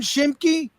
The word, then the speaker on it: Schimke: You were great with the pronunciations. Did I do okay? John Schimke?